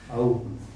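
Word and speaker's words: owe: Verbs of possession, ये 4 हैं, belong, ओ, इसको सही प्रोनाउंसिएशन इसका है आउ, इसका है आउन, ओन ओन सब कहते हैं, मैं भी ओन ही यूज़ करूँगा।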